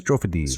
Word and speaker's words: Strophades: Strophades. Strophades. Think of like Cyclades and Dodecades.